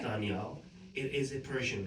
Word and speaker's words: Daniyal: So Danielle is pronounced like the D, pronounced like THE, like da. Okay. Danielle.